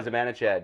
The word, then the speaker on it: Zibanejad: Oh, Zibanejad.